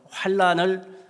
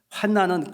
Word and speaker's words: 환난: 많이 나온다 그럽니다 그래서 환란을 어떤 사람들을 환란 이렇게도 발음을 하는데 그 뜻이 뭘까요 환난은 근심과 재난을 통틀어서 이러는 말 이렇게 얘기합니다 환난은 발음하기 편하죠 환난 근데 이것은 어떤 뜻이냐면